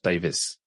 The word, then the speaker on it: Davies: Written Davies, but pronounced Davis.